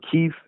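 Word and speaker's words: Kyiv: canif uh sorry of kiev and um or kiev is how the ukrainians pronounce it it's it's a really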